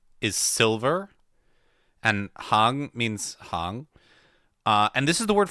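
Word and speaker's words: 行: So, however, it can also be pronounced hang. I believe it's second tone. Yeah, second tone.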